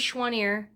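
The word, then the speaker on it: Choiniere: but my maiden name my maiden name is shuang'er it's ch oh I n I e re it's French and nobody in my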